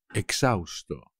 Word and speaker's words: exhausto: que no puedo más exhausto exhausto como siempre por supuesto la h no se pronuncia tras correr 420 metros